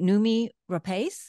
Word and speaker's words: Noomi Rapace: And I don't know if I'm going to pronounce her name right. Noomi Rapace, is that how you say it?